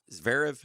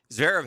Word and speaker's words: Zverev: I was at work last night when the first set between Alcaraz and Zverev, is that how you say it? Zverev, yeah.